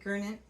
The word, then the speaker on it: Gurnett: Thank you to my co-chairs, Stephanie Gurnett. I said it right. Oh yeah, I got it. I'm always worried if I'm going to say like the G or it's J.